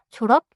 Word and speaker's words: 졸업: I added something after. 졸업. 좋아요. 다시 해 볼게요. 졸업 짧게 닫고 축하해요. 졸업 축하해요.